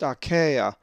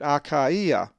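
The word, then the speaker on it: Ἀχαΐα: the iota diaeresis is akaia, which is the place achaia, and is number 882. It's not pronounced achaia, as the diphthong alpha epsilon would normally be, but it's separated, akaia.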